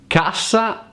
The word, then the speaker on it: cassa: Cassa means box, but casa means home.